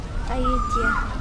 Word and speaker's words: Ayutthaya: Ayutthaya.